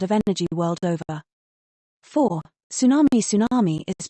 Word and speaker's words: tsunami: over increasing demand of energy world over four Tsunami Tsunami is pronounced as tsunami it is a Japanese word